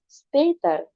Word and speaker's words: später: Ini umlaut, jadi kita baca bis später.